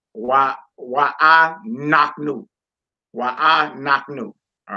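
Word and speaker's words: אנחנו: Why I naknu. You see, I'm putting the emphasis on the knock part because that lesser than symbol was above the noon.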